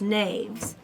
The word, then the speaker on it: knaves: And I says to Cappy, I said, first of all, how do you pronounce that? It's knaves.